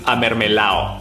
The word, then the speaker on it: amermelao: So it's actually pronounced amermelao. If you're saying this to a guy, it's amermelao. Amermelao. But if you're saying it to a girl, it's amermela. Amermela.